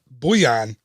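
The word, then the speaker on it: Bullion: of the Big Thunder mining company Barnabas T boo-yan I think it's pronounced rebby UL li o n yes I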